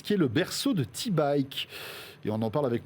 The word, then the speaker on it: Teebike: Et oui, Nice qui est le berceau de T-Bike. Et on en parle avec mon invité Laurent Durieux. Bonjour Laurent. Bonjour. Cofondateur donc de T-Bike. T, ça s'écrit T-E-E, attention.